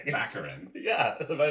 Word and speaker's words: Baccarin: keep saying back the same thing you're saying baccarin yeah am i not saying it right no